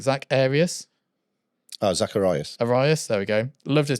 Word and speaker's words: Arias: We had, I'm going to pronounce his name wrong, Zach Arias. Zacharias. Arias, there we go.